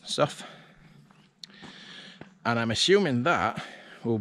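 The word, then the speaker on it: Sough: this is soft damn spell s-o-u-g-h but pronounce stuff and I'm assuming that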